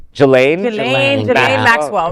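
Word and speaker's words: Ghislaine: Jane.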